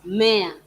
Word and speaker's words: mmea: You need to slow the M because it has two M's, which you need to pronounce.